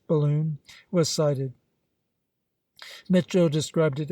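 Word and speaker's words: Balonne: beginning of April, when the Ballon, pronounced balloon, was sighted.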